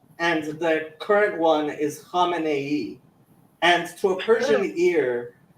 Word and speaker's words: Khamenei: Khamenei. It's even got an extra syllable.